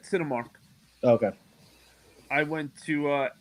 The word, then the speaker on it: Cinemark: Cinemark.